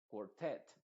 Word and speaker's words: quartet: e en este caso esta et t se pronuncia tal cual esa e se va a pronunciar como una e se va a decir alphabet outlet quartet o quartet más bien quartet es importante saberse Te